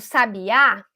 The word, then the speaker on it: sabiá: anti penúltima sílaba então quando eu fiz o sabiá eu tive ali uma palavra oxítona porque as palavras oxítonas são as palavras que tem a força na última sílaba então o último pedacinho